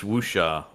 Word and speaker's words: wuxia: What this reminded me of the most in terms of its genre conventions is like wushu, like, or how do you pronounce that? I believe it's wuxia, right?